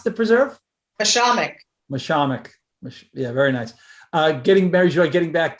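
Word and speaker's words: Mashomack: How do you pronounce the preserve? Mishamik.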